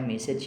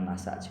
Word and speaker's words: message: Ingat membacanya message ya, jangan massage. Kalau massage itu pijat. Tapi kalau untuk pesan kita membaca dengan message.